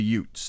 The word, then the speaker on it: Utes: about the Utes and it was not UTS as in you know like My Cousin Vinny you know they were uh they were disenfranchised UTS no not y u t HS pronounced like you're from the Jersey Shore but the Utes the Indian Tri uh